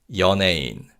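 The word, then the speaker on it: 연예인: In this word, the vow y weakens. So it's pronounced like e. So it's yain.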